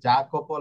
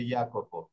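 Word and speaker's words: Jacopo: যেরকম এই যে এটা জাকোপো লেখা দেখা যাচ্ছে, কিন্তু হবে ইয়াকোপো।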